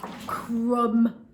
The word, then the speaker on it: crumb: wow done next one crumb i ate some toast and there was a lot of crumbs everywhere crumb crumb remember that silent b at the end pause that video see